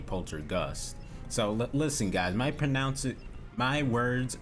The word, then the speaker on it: Poltergust: So this whole time I must have been pronouncing that other word wrong. The other word that has G-U-S-T. So the older word must be poltergust.